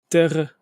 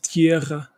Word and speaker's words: terra: And how do you say it in Portuguese? Terra, like that, not tierra.